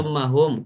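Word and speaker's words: ثم هم: Summahum, gini bacanya summa dari summahum.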